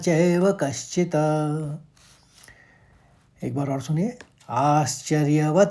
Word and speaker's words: कश्चित्: फिर वेद वेद वेद नाचैव, कौ के ऊपर आघात, शॉल पहले निकलेगा, कश्चित कश्चित। अब चौथे पंक्ति को फिर से सुनिए, श्रुत्वाप्येनौ वेद न चैव कश्चित्।